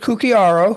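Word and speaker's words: Cucchiaro: With Steve Cuccinera. Yep. Did I say it right? Yeah, Steve Cucciaro, who is our CEO and Chief Investment Officer,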